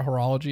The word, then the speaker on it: horology: i wouldn't say we're into horror is it horology is how you say it yeah um we're